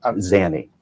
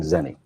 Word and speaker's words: Zanny: Give me the pronunciation so I can get it right. How about Z-A-N-Y? If you can't pronounce an A, there's something wrong with you, sir. Tell me the way you say it. Zanny. Zan. Z-A-N-Y. Yes, sir. And the way you're pronouncing, you're playing Zenny.